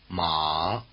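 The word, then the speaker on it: 马: let you locate the extremes list listen ma ma again mother and horse High versus low ma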